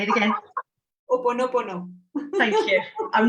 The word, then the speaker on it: ho'oponopono: Oponopono.